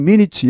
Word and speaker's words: minute: 날조된, 조작된, forged, meeting minutes, 여기 minutes는 의사록, 회의록 이런 말입니다. 분 이런 게 아니고, 요게 이제 형용사가 되면 minute 이렇게 발음이 달라지면 미세한 이런 말도 있습니다.